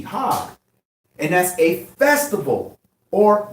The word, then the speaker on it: Chag: So feast is Hag. So feast of tabernacle is Hag Sukkah. Feast is H2282. That's spelled C-H-A-G, Hag.